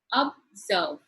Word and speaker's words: observe: Let us look at the word observe. Observe. Two syllable. It is in the second syllable that the stress is given, that is observe.